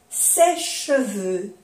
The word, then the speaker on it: sèche-cheveux: Aquí igual, no se pronuncia la E. Un sèche-cheveux, un sèche-cheveux.